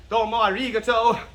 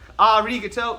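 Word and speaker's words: ありがとう: heard tomo arigato mister it's not doma rigato arigato putting a lot of emphasis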